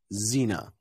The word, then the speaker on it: Xena: never pronounced as um it's never pronounced as KS or never pronounced as X it's always pronounced as Z so for example xenophobia Xena always with it with